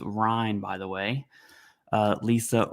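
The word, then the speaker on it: Rein: We have another article in part of the Washington Post series um from our fearless Washington Post representative whose last name is pronounced Ryan by the way.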